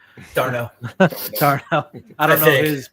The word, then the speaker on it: d'Arnaud: And I don't know Darnaud. How do you say his name? d'Arnaud.